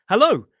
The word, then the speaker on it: hello: Make sure you are using that dip thong. O. Make sure it's not a oh hello.